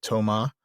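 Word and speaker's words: תאומא: Our name Thomas is the Greek form of an Aramaic name, which I think is pronounced Toma, which means twin.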